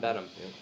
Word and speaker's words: Benham: I'm here with John Benham. Am I saying it right? John Yep, Benham? John Benham. John Exactly. Benham.